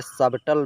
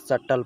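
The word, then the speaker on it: subtle: इसी तरह सर्टेनली ए सबटल भी नहीं पढ़ा जाएगा सटल पढ़ा जाएगा क्योंकि इससे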